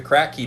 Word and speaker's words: Kratky: a try um there's there's uh the the kratky method is really good that's where you have